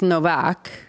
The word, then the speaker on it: Nowak: mean, but you are right that it is Novak, right? That's what it should be. If you are pronouncing it in the properly. properly. But uh I do remember it, I think, as Nowak, but um yeah.